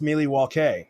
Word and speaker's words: Milwaukee: Actually, Bradley, it's pronounced Milwaukee, which is Algonquin for the good land.